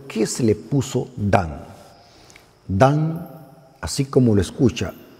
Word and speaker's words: Dan: Qué significa Por qué se le puso dan dan así como lo escucha d a n dan